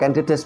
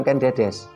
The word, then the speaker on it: Ken Dedes: oleh Ken Dedes ini bacanya adalah Ken Dedes bukan Ken Dedes Dedes itu bermakna menggambarkan